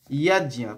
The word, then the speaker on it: যজ্ঞ: ইয়াজ্ঞা, প্রথমে ইয়াজ ইয়া, আমরা বারবার বলছি যজ্ঞ বলবো না, ইয়াজ ইয়া, বর্গীর জ আর ইয়কে ভেঙে দেবো।